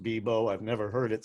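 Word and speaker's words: Bebout: gonna guess it's pronounced bebo i've never heard it said out loud i only read it online but since she spells it phonetically for the name of her company i'm gonna guess that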